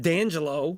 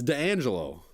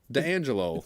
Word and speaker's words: D'Angelo: Angelo D'Angelo he says it's called it's not dan jello its D'Angelo D'Angelo not the Angelo D'Agostino it's not right say